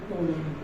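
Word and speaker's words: Ptolemy: इसका नाम था टोलनी। टोलनी मैं बोल रहा हूँ पर पी साइलेंट होता है, तो इसका नाम है टोलनी।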